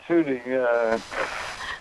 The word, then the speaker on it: Tutu: Yes, Desmond Tutu.